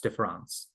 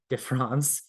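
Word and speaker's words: différance: meanings differance can embody the word sounds like the word differance which comprises one of the meanings of defon but the latter contains the ghost the a that one cannot hear when it is spoken but see when it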